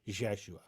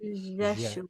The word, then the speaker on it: Yeshua: time, in the regression, it was an Aramaic pronunciation, and it sounded like a Y and a J mix, sort of more Middle Eastern, right? Jeshua, right? Yeshua. Jeshua, yeah.